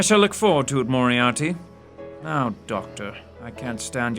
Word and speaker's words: Moriarty: M-O-R-I-A-R-T-Y, Moriarty.